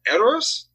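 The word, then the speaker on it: Edoras: they end up going to rohan's capital uh errors yeah you said it right good job hey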